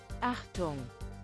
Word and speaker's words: Achtung: Pronunciation. German. Google save me. Achtung.